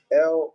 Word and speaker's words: El: El or Il, actually the ancient pronunciation is Il.